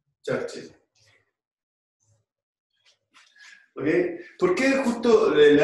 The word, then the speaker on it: Churchill: es de Brown y Churchill, o Churchill, pronunciémoslo un poco mejor, Churchill.